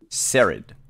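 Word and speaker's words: Saraid: how to pronounce it show us s-a-r-a-i-d yeah sherrod i'll probably rod um oh wait i can hear it here sarid um so yes uh sarid is uh the vp of public relations she's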